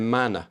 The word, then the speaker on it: mana: in degradation of their mana. That word mana is important. Let me make sure I'm pronouncing it right. Mana's easy. Ma-na. Mana. So the sound.